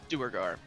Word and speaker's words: Duergar: Duergar. Dwagar. I think it's Dwagar. technically what you're supposed to say, but I don't ever say it. Doubtful. No, that is correct.